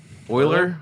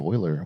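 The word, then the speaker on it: Euler: Oiler.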